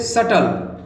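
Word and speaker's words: subtle: फिर है नेक्स्ट यहाँ पे सटल, वैसे सबटल लिखा है लेकिन यहाँ पर बी साइलेंट है, इसलिए इसको पढ़ना है सटल।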